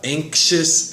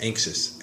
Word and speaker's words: anxious: Anxious and then anxiety. Whether it's adjective or noun, the pronunciation changes. Anxious, anxiety.